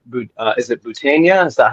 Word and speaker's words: Boutaina: of ways, but it sounds like, is it Boutaina? Is that how you say it? Boutaina, yeah.